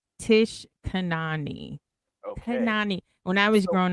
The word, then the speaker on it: Tish Kanani: ever be so different okay no it is pronounced Tish Kanani okay when I was growing up people used